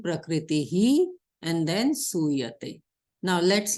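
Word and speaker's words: prakṛtiḥ: So now we will not go directly to sa. We will say prakritihi.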